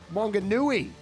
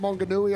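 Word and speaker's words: Maunganui: The Aussie is going to be taking on Darcel Apollo from Mount Monganui. Getting my pronunciations right there. Mount Monganooi on the North Island in New Zealand.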